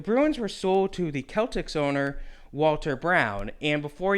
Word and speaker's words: Celtics: were sold to the Celtx owner Walter brown and before you question me I'm a history guy it's not Celtics it's Celtx I will say Celtx